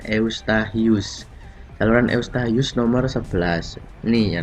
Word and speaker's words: Eustachius: Tulisannya Eustachius ya, tapi bacanya Eustachius.